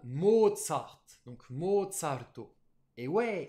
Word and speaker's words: Mozart: mode sarto bah oui nous on dit mozart parce qu'on le voit écrit mozart ondimba beaux-arts mais non c'est un prénom autrichien donc allemand qui se prononce bien à l'allemande mode sarthe donc mode salto et